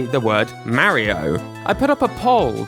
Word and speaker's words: Mario: People do not like how I say the word "Mario". I put up a poll to see how many people say MarryO versus MARio, and the consensus is very clear.